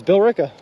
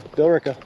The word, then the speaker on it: Billerica: not too far off it's Bill Rica we just dropped the e in there Billerica Billerica close enough that